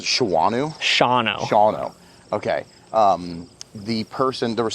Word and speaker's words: Shawano: how do you pronounce it? Shawano? Shawano.